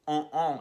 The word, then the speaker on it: on: É como se fosse on, só que o N se pronuncia do primeiro on.